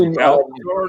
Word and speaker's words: Alcor: It's pronounced Alcor, dude.